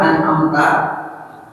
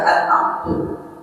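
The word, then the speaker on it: أنعمتَ: Contoh an'amta. Ini kan seharusnya fathah. Contohnya misalkan salah baca an'amtu.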